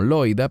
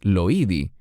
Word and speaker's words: Loida: Nosotros pronunciaríamos este nombre como Loida, pero en griego es Loidi.